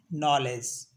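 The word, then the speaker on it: knowledge: जैसे knife नी net knock not नो एंड नॉलेज कुछ word ऐसे जिसमें एन लास्ट का एन साइलेंट होता है जैसे कॉलम मम और ऑटम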